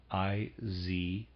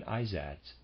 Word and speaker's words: Izads: Readers aside, that's how I'm going to pronounce that. I-Z-A-D-S, Izads.